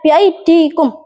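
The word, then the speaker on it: بأيديكم: Dan karena orang-orang Arab berat dalam pengucapannya, maka dibaca biaidikum.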